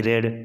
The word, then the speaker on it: read: वह पढ़ता था, ही रेड, है ना। स्पेलिंग सेम रहता है, READ रीड पढ़ना, V2 इसका READ रेड, V3 भी READ रेड। उच्चारण अलग हो जाता है लेकिन इसका फॉर्म सेम होता है ना।